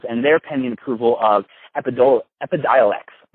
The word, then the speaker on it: Epidiolex: handling GW Pharmaceuticals and their pending approval of Epidiolex. I'm not sure I think that's how you say it out loud. Correct. But it is Epidiolex, yeah.